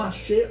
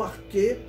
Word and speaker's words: arché: Então, arché ou arquê, como alguns pronunciam, significa isso, originador.